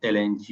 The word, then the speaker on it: langue: The first one that is lang l a n g u e pronounced lang.